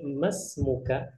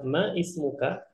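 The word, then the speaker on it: ما اسمك: Makanya kita langsungkan membacanya masmuka. Dan ini lebih afdol. Namun untuk pembelajaran kita bilang ma ismuka, maka tidak masalah, itu tidak merubah makna.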